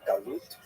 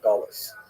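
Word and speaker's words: גלות: a neutral connotation but the word exile in Hebrew galut or in ashkanaz pronunciation gulis uh that Jews were thrown out of their land.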